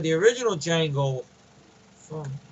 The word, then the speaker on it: Django: That's like the original Django from the D is silent.